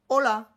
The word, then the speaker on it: hola: Tu la retrouves par exemple devant hola. Hola. Il y a un H, mais tu ne le prononces pas. D'accord? Il ne faut surtout pas aspirer le H.